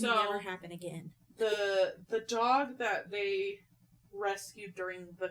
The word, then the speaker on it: Diogee: It's spelled Diogee. G-O-G. D-O-G. D-O-G. G-O-G. And I was like, oh my gosh, I'm such an idiot. D-O-G. D-O-G. Yeah, Dog. D-O-G. It's literally Dog.